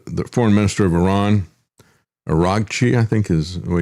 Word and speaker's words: Araghchi: As a matter of fact, the um uh the foreign minister of Iran, Araghchi, I think is the way you pronounce his name, uh speaking in France, he